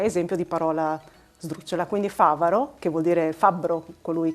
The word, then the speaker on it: Favaro: Quando io ho letto il tuo cognome la prima volta ho pensato Favaro, perché sono friulana e quindi mi è proprio uscito spontaneo di leggerlo con l'accento sulla seconda A, Favaro. Poi però, considerando che tu hai origini venete, Favaro, giusto?